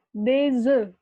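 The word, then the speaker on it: des œufs: F-nya nggak dibaca ya, sampai deze doang. Kalau satu telur aja, satu butir telur bilangnya ang neuf. Ada F-nya di belakang. Ang neuf. Siapa? Jawabannya deze ya, pada milihnya ya.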